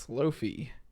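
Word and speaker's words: slofie: on iphone 11 so if you ever wanted to use the word slo-mo and selfie together it's pronounced slow fee this is kind of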